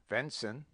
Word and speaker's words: venison: often so as solless pronounce venison venson victuals victals wicked wicked womb womb wrath wroth the student will doubtless This marked many other deviations from our rule.